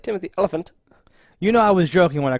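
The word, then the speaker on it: Olyphant: But he pronounced his own name, and it is closer to elephant than Oliphant. Great. Now I can't even remember how he said it, but it's like Timothy Oliphant.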